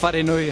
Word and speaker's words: wharenui: I think, like you said, roll the R. So, wharenui hāwera. Yeah. You can change the R to a D.